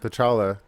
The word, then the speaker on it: T'Challa: T'Challa. T'Challa.